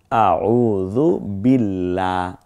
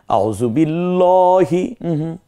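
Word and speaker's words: أعوذ بالله: আউজুবিল্লাহ বিল্লাহ বলবো না কারণ এই আল্লাহ শব্দের পূর্বে অক্ষর জের তাহলে আল্লাহ শব্দের পূর্বের অক্ষর জের হলে তখন পাতলা করে আউজুবিল্লাহ দেখেছেন আউজুবিল্লাহ বলছি না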